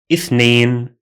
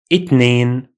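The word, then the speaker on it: اثنين: In speaking, we simply say ithnain. In some dialects, the th sound is pronounced as T sound, as in Egypt. We say itnain, itnain.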